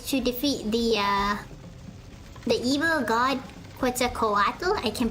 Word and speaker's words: Quetzalcoatl: And our mission is to defeat the evil god Quetzalcoatl. I can pronounce it properly now, Quetzalcoatl.